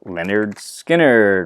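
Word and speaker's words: Lynyrd Skynyrd: really good band luna well the classic debut pronounced leonard skinner right there tuesday's gone with the wind simple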